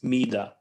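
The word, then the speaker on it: מידה: Okay, this is the word midah in Hebrew, and it's pronounced like this: midah.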